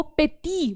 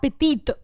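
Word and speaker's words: petit: एस लग गया इसलिए मैंने टी को प्रोनाउंस करा, और यहां पर कुछ भी नहीं है टी के बाद, इसलिए मैंने उसको पेटी बोला, पेटी, नॉट पेटीत।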